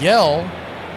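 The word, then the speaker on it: Hjelle: Yell is the new pitcher in the game. It's spelled H J E L L E, but it's spelled Yell.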